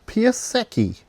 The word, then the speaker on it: Piasecki: So this is my second Random Weirdness for the group build, and it's a, I have to say it right, Piasecki.